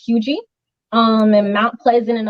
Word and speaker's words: Huger: look on the map it looks like a huger or huger but it's actually pronounced hugey um and mount pleasant